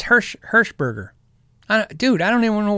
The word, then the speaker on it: Hirschberger: Jeff Heschenberger. That's no Eschen. I don't know why I got it's Hirschberger.